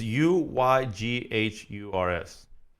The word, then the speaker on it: Uyghurs: It's not spelled the way you think. It's it's Uyghurs. But it's literally, that's how you pronounce it.